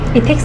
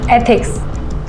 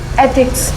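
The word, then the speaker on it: ethics: इथिक्स नहीं, एथिक्स ऐसे pronounce करो। एक बार बोल के बताओ। एथिक्स।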